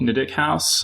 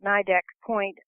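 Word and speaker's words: Nideck Point: with your protagonist Ruben visiting a mansion called Nik house uh which is very vividly described just how did you come up with all the details about the house well uh actually I pronounce it nidek Point uh but the you know that house is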